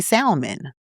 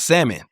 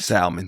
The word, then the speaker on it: salmon: And wanted to go in certain circles, but she would say salmon. Don't laugh. Instead of salmon because it's an old English word and the L is silent. Salmon.